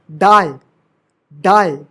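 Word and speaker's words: dude: ट नहीं पढ़ेंगे ट क्राइम ग्रेस य भी साइलेंट है ग्रेसे नहीं ग्रेस गूज एक्स डा डा डा डा बाय पाय यूज to cage डूड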